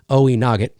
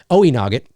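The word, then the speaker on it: Oweynagat: and its devil infested other world oe nogget pronounced oh there we go oe nogget oe noggit uh and meaning cave of the cats was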